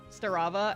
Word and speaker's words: Starava: And she's like, is your name pronounced Starava? And I was like, yes. Yes, it is, Miss Teacher.